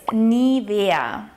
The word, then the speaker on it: Nivea: It's Nivea.